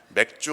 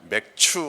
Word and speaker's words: 맥추: 다음 주일은 맥주 감사주일입니다 우리가 발음을 잘해야 되는데 맥주 감사주일이 아니라 맥추 감사주일이 되겠습니다 전반기 올해 전반기에 하나님께서